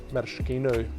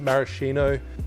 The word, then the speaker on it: maraschino: 22.5 ml, 3/4 ounce of your Maraschino Liqueur. I always pronounce it maraschino. I know Americans pronounce it maraschino. I've been called up for it before, but that's just how we pronounce it in Australia.